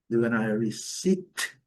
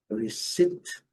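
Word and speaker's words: receipt: Receit. Receit é esse bastante longo aqui. O não é pronunciado também, nem o P.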